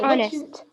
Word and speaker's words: honest: Yeah, Honest. Honest, honor, and our. What do you notice in all three of them? H is silent.